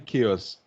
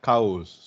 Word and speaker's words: chaos: in class now and i mean chaos that was what happened somebody pronounced as cows so so when you